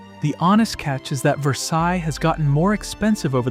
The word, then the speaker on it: Versailles: Number two, Versailles, and no, it's not pronounced like the palace in France. Locals say it ver-SAYLZ, and getting that wrong at the diner is basically a rite of passage.